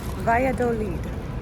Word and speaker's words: Valladolid: All right, according to Google, it's Valladolid.